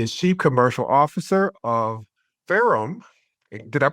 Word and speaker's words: Ferrum: He is Chief Commercial Officer of Ferrum. Did I pronounce that correct?